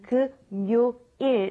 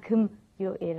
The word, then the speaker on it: 금요일: And we need to be careful when you're saying Friday, okay? 금요일 is how you want to pronounce it, okay? Not 금요일, okay?